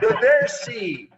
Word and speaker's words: Roversi: Oh, Roversi. How do you say it? Roversi.